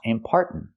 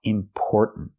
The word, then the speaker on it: important: The word is not pronounced important. It's pronounced important. important. Not are like car and far, important, but or like store and more. Or important. Let's talk about the third syllable. It sounds like important, important, but there's a stop T at the end.